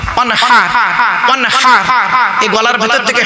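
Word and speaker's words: وَانْحَرْ: আমি পড়ছি দেখুন তো, ইন্না আতাইনাকাল কাউসার ফাসাল্লি লিরাব্বিকা ওয়ানহার, ফাসাল্লি লিরাব্বিকা ওয়ানহার, ওয়ানহার ওয়ানহার। এই গলার ভেতর থেকে হাইটা উচ্চারণ করবেন, হাই হচ্ছে হাই হাওয়াজ নয়।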